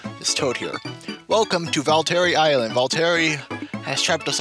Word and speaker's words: Valtteri: pretty sure it's pronounced valter please someone correct me if I'm wrong though I'm pretty sure I've got it so once again Luigi